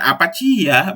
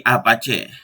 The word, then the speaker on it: Apache: tersebut contohnya a-apa c bukan apa Cia bacanya tapi Apache adalah salah satu yang